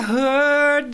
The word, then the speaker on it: heard: I heard that your dreams came true. Notice how in the word heard, the R is almost not pronounced.